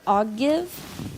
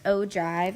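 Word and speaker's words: ogive: this is a weird word it looks like I'll give but it's pronounced Oh Dr and it's a graph that represents the cumulative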